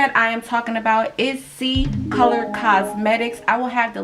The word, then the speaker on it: Ccolor: Okay, so Ccolor Cosmetics is 100% paraben and cruelty free company. They're pronounced C as in S-E-E, but it is spelled C, the letter C, color.